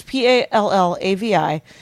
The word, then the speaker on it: Pallavi: So it is spelled Palliva. What? AVI. Oh, I've been incorrect. It'll be in the notes. Oh my god. But it's Pallavi, and then Gunalan, Gunalan.